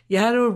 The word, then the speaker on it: Yaddo: what here's the thing yaddle rhymes with shadow hence the show's name